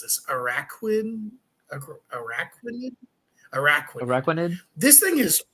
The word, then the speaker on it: Araquanid: And how do you pronounce this? Araquanid, Araquanid.